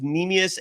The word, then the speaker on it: Neemias: His first name is Neemias, Neemias, last name Queta, Queta.